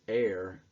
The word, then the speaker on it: heir: open to be his heir, which the H is silent in the pronunciation of that when you're talking about someone who will inherit, someone who will get what's passed down.